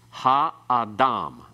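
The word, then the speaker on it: הָאָדָם: Because we have 3 syllables, all with long vowels, then it's ha-adam. The ah part has no accent. The ha has a secondary accent. The major accent still at the end.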